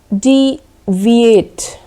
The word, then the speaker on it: deviate: this is called deviate d V8 right you have to stress on the middle syllable D V8 let's check some